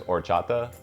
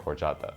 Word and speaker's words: horchata: what the flavor is the next flavor is horchata and it's spelled o-r-c-h-a-t-a which is a take on horchata